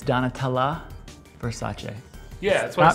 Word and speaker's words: Donatella: So Joshua, you're a pretty big Donatello Versace fan? No, it's Donatella Versace. Yeah, that's what I said. Not pronounced Versace, it's Versace.